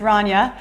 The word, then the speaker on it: Ranya: It's not Ronya, it's Ranya.